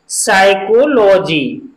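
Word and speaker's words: psychology: अब यहां पर भी पी साइलेंट रहेगा, यहां पर एन तो नहीं है लेकिन एस है पी के तुरंत बाद, लेकिन फिर भी यहां पर पी साइलेंट रहेगा, तो इसका उच्चारण होगा साइकोलॉजी। क्या होगा, साइकोलॉजी।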